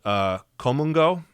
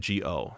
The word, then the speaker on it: Geomungo: It's spelled Geomungo. So look, you know, in English, in our sort of phonetic language, it would sound like geomungo, but it's called komungo.